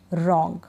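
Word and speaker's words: wrong: डब्ल्यू आर से शुरू हो रहा है, हम डब्ल्यू का उच्चारण नहीं करेंगे, रॉन्ग।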